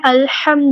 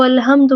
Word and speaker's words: الحمد: کی ہے کہ الحمد جو درست تلفظ ہے وہ کیا ہے؟ الحمد للہ، تمام تعریفیں اللہ ہی کے لیے ہیں۔ لیکن اگر اس کو الحمد پڑھ دیا جائے، ہا کو واضح نہ کیا جائے، تو اس کا